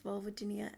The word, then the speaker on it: vulvodynia: So, vulvodynia said vulvodynia.